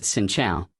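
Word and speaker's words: Xin chào: To say hello it's pronounced Xin Chao.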